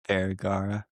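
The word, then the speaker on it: Vergara: Sophia Var, how do you say Vagara and yeah, Reese Witherspoon.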